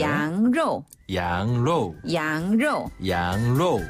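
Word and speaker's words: 羊肉: 양로. 양로. 양로. 양로. 그렇죠. 양고기는 정말 양고기처럼 발음하네요.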